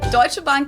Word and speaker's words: Deutsche Bank: That's how we pronounce it. Deutsche Bank is the largest bank in Germany.